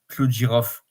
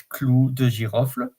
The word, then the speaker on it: clou de girofle: So the 3rd spice for the 3rd December is clou de girofle. And in fact, I pronounce it as is, but we can say clou de girofle.